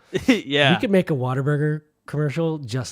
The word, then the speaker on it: Whataburger: people say it wrong it's not water burger it's what a burger what a burger because when you bite it that's what you say you're like man what